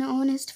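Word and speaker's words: honest: Anis Mia ওয়াজ এন অনেস্ট farmer. এখানে অনেস্টের আগে এন বসেছে এই কারণে যে অনেস্টের এইচের উচ্চারণ বাদ দিয়ে এখানে বাওয়েল সাউন্ডটাকে আনা হয়েছে, আর বাওয়েল সাউন্ড হওয়ায় এখানে এন বসেছে।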